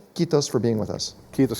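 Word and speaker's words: kiitos: invesa from helsinki and if i say it right i believe it's quitos which means thank you in finnish quitos for being with us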